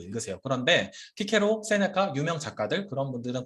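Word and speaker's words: Cicero: 교회 라틴어 발음은 이런 걸 city 이렇게 말씀드리고 아까 제가 키케로도 그 고전 라틴어 발음으로 우리에게 익숙한 키케로로 읽지만 교회 라틴어 발음은 시세로라고 했어요. 이런 걸 스 발음으로 하는 겁니다.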